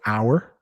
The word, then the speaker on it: hour: So hour, that's or, hour, or. So the 2 hours, OUR, and it's pronounced the same as if it had an H in front of it.